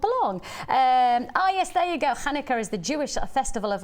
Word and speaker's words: Hanukkah: how I say that, Chankuka. That's wrong. Yeah. Fair I'm doing tomorrow. I might have said that. Hanukkah fair. Pronounced like a guttural H at the back of the road. Hanukkah.